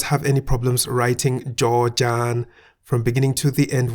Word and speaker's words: จ จาน: Remember that Jaw-Jan sounds like a T at the end of a syllable, so we say at.